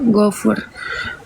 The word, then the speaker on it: Gafur: Dokternya spill, kakak ketik aja namanya dokter Gafur, tulisannya Gafur ya, bacanya Gofur.